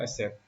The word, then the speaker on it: SAP: हमें सैप कर देना, तो दिस इज एससीपी नॉट एसएप, ये आपने इसकी थोड़ी सी करेक्शन करनी है, राइट। जब भी आपने प्रोनाउंस करना हो यू हैव टू से एसएपी instead of सैप, okay, officially जो बनते हैं।